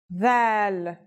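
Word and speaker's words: ذال: It's pronounced with the tongue between the upper and the lower teeth. It's quite easy to pronounce. Here's how to write the isolated version. Dhal.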